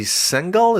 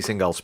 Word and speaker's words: Singal: You cite a piece by Jesse Singal. Is that how you say his name? Singal, yes.